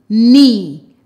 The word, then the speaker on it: knee: Knee. Remember, in that word, the K is silent.